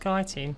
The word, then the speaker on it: chitin: Chitin. It's actually pronounced chitin. Shut up.